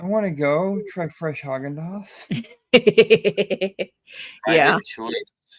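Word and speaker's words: Häagen-Dazs: got hogen or what is it haen is it hog or haen I think it's hogendos I've always heard I never I can remember remember if the two dots above the a mean like a long a or a a sound yes hogendos hog andos okay so hogas yeah and they actually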